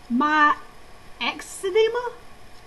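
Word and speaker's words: myxedema: think of hypo thyroidism it's called my my ex-edema my ex-edema okay it's spelled m-y-x-e-d-e-m-a and for some reason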